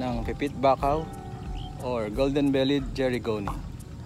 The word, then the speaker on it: Gerygone: Idagdag na rin natin sa listahan ang pipit bakaw or golden-bellied jerigoni. Nabasa ko sa Wikipedia na jerigoni or something like that ang pronunciation nun at hindi jerigoni.